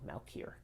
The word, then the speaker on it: Malkier: itself is turning poison two or three syllables i say this two malkier okay people who are